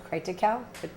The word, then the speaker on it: Triticale: The current use of the property is primarily for silage, corn, and triticale, T-R-I-T-I-C-A-L-E, how to pronounce that word?